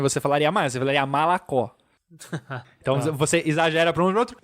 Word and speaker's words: молоко: Então, malacó, que é leite, que eu já expliquei, a gente fala... Não, se escreve molocó, tá? Se escreve molocó, mas se fala malacó. Então, parece que substitui o O pelo A, mas na verdade é malacó.